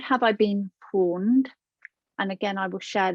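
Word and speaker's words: pwned: There is a site you can go into, and it's called Have I Been Pawned? And again, I will share this in a moment. And pawned is spelled P-W-N-E-D.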